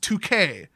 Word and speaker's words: Tuque: So in basically any language based in Latin, that would be pronounced 2K. In fact, the accent would be on the first syllable because there's no accent mark on the E.